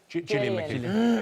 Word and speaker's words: Gillian McKeith: Gillian McKeith.